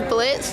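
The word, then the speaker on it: Blitzø: My name is Melissa, and I'm going as Blitz. The O is silent.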